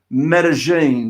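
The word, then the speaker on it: Medellín: now I can actually I think I can actually pronounce meta-gene did I say that correctly you did indeed I love it so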